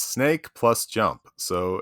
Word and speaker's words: Snak: Is it Snak or Snake? I guess it's Snak, right? There's not an E on the end.